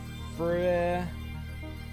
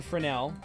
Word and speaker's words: Fresnel: Gran dash Fresnel. Spelled with an S. Fresnel. Like, you know, French or whatever.